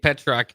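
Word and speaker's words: Pietrzak: hear from uh from coach Butler about Kade Petro. Uh we're all kind of getting used to and trying to to say his name there, but it is it's it's it's pronounced Petuck, which is kind of cool.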